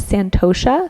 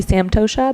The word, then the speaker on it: santosha: And then the next niyama is santosha. Sometimes it's spelled with an M, so it'd be samtosha, but it depends what tradition you're studying.